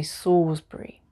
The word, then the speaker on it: Salisbury: salisbury not salisbury here we don't pronounce the l we just say sawsbury the next group are